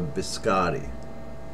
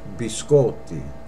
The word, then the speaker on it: biscotti: And I hear a lot of Americans say, can I have a biscotti? Incorrect. Biscotti. And that means cookies, plural. Biscotti. Not biscotti. Okay?